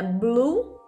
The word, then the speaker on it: blue: Então, preste atenção para você não pronunciar o E, tá, gente? É só U mesmo. Então, bora lá, ó. Azul em inglês é blue.